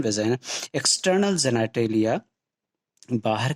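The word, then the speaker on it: vagina: Ovary है, फिर oviduct है, fallopian tube, uterus, cervix, वेजाइना, या कुछ लोग वेगिना कहते हैं, प्रोनाउंसिएशन वेजाइना।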